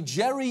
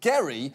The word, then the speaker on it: Gerry: to notice that the Jerry in gerrymander refers to a guy whose name was actually pronounced Gary because literally everything about